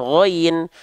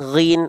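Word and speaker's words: غين: Ada yang bilang ghain, ada yang bilang ghin.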